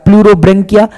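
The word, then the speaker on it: Pleurobrachia: ब्रेकिया ब्रेंकिया नहीं होता ब्रेकिया।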